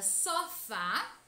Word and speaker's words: sofá: Na palavra sofá, o acento agudo indica que a última sílaba é a sílaba tônica, que é a mais intensa, e mostra também que a pronúncia dessa sílaba deve ser aberta, com o som aberto.